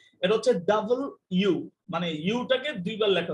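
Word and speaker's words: W: ডাব ইউ আর ও টি ই অনেকে এটাকে ডাব দিয়ে উচ্চারণ করে প্লিজ এটাকে ডাব দিয়ে উচ্চারণ করেন না ইটস নট ডবলিউ এটা হচ্ছে ডাবল ইউ মানে ইউ টাকে দুইবার লেখা হইছে ডবলি ইউ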